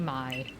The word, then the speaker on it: Mai: You may call me Mai. May? Oh no. Because I think the avatar character is spelled the same way, but they call her May. But you think you would pronounce it Mai.